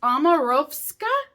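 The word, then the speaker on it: Omorovicza: It's Omarovska, I think is how you pronounce it.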